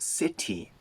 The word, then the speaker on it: city: It's not city. It's city. City. This is the American pronunciation. In the United Kingdom, it's city. But in the US, we weaken that t to a little tap.